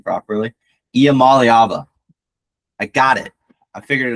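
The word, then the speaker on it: Iamaleava: Let me just flex on like all the college football commentators and YouTubers who cannot pronounce his name properly. Imam Alyaba.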